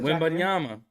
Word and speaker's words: Wembanyama: Pronounce it. Wembanyama. Is that bad? Is that bad? Wait, say it one more time. So Wembanyama. That's fine. Wembanyama. Yeah, you're right. Yeah, I was right.